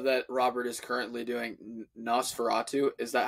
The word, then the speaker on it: Nosferatu: I also know that Robert is currently doing Nosferatu is that how you pronounce it yes yes it's based off of